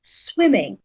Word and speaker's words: swimming: So the first syllable, swimming. So swimming receives the higher voice.